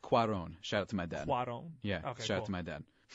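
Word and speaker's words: Cuarón: It's pronounced Cuaron.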